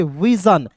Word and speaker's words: vision: अब देखिए विसन नहीं पढ़ेंगे, विजन।